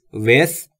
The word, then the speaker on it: with: دوستان تلفظ th در with رو هم باید دقت داشته باشید. With زبونتون پشت دندونهای بالا سعی میکنید بگید سه سمیه.